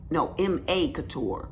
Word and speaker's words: M.A. Couture: And it is MC Couture. M.A. Couture. Girl, I'm saying the name wrong. See, that's why I'm be shouting folks out. M.A. Couture is her name.